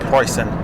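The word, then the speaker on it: Preußen: seductive by the way in Germany they don't pronounce Prussia Prussia they pronounce it pricing I'm behind a guy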